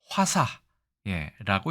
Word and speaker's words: 華奢: 담겨 있는지 보도록 하겠습니다 일단이 글자는 화사라고 읽습니다 장단음이 구별이 없기 때문에 그냥 화사라고 읽으면 되는데 우리가 알고 있는 화사하다